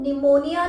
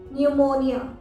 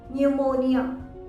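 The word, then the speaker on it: pneumonia: इसकी स्पेलिंग है ये, फर्स्ट थिंग P साइलेंट होता है और इसको निमोनिया नहीं बोलते हैं, निमोनिया नहीं, हिंदी में बोल देते हैं कि निमोनिया हुआ था, पर इंग्लिश में इसका सही प्रोनाउंसिएशन है न्यूमोनिया, न्यूमोनिया। यो का साउंड आता है, स्लाइटली सुनाई देता है, न्यूमोनिया।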